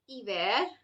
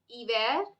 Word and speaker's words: hiver: The letter is a consonant and it does not make any sound. Therefore, words that start with letter H, such as honor, hiver, hiver means winter, and hier, hier means yesterday, are pronounced without the sound H.